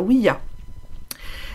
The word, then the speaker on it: Ouija: Donc, ils ont pris le oui du français. Et ils ont pris le ja, en fait, qui veut dire oui en allemand et en néerlandais.